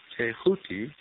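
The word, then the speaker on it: Thoth: the Ibis headed scribe of the Gods th pronounced touti the so-called Emeral tablet of Hermes is said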